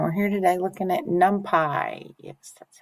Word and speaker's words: NumPy: And we're here today looking at NumPy. Yes, that's how it's pronounced, NumPy.